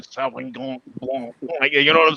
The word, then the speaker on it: Sauvignon Blanc: You gotta say it like you have a stuffed nose, Yeah, just picture when you have a cold and you can't talk because your nose is all plugged up and Sauvignon Blanc.